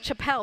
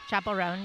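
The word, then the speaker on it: Chappell Roan: pone it's Chapel pone I was saying Chapelle but I know her name like chapel chapel Rowan Chapel Ron yep chapel rone chapel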